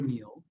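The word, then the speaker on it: Neal: spell your name yes my name is Neil and uh it's spelled my last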